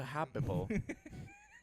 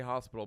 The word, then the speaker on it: hospital: 2 local boys go to the Happable. They say it like that. I don't. The what? I say hospital, but a lot of people say Happable.